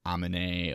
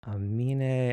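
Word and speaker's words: Aminé: debut album on like how people mispronounce his artist name as like Amine or Anime or Anamina. Like it's dumb as fuck. It's Amine. I'm not gonna lie.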